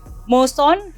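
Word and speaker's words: Moesson: Nah ini yang susah nih, bernama Moson Het Indisch Manblad. Ya. Betul, cara bacanya gitu.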